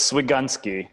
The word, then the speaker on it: Swigunski: do you say it so it's Swig guny so Swig gun and then ski okay and is that